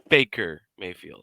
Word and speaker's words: Baker Mayfield: 2 Chainz at you mispronounce 2,328. Baker's name. It's Baker Mayfield.